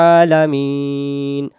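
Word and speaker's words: العالمين: আলা মিম ইয়া জের মি নুন জবর না আলামিনা দম ছেড়ে দেওয়ার জায়গা থাকলে জবরকে বাদ দিয়ে সাকিন ধরে পড়তে হয় উচ্চারণ হবে আলামিন এই অক্ষরটা যদি আমি বলি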